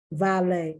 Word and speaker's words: valet: ballet i've heard ballet valet once again french the t is not pronounced because sometimes english takes